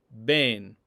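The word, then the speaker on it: בן: So when we encounter the word ben for son, there's a dagesh in that word, and therefore the beit is pronounced as a b, as in boy, ben.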